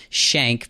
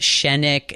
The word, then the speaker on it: Schenck: It's pronounced Shank. People tell me it's the longest one-syllable word they've ever seen. I get Shennick and Skank all the time.